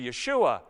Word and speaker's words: Yeshua: of the Hebrew Joshua, which we of course pronounce with a J, but it's actually Yeshua.